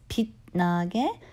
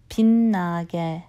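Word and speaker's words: 빛나: pin again here again pay attention to how I pronounce pin nugget you would think I will pronounce this Pete nage but actually to end sound because that's just easier on my tongue with the Chan mmm constant right next to each other so it's pin nage not Pete Naga kinegg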